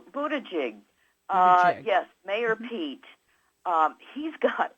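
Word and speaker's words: Buttigieg: left Pete buta gig is that how you pronounce his name Buda jig yes mayor Pete he's got a wonderful chart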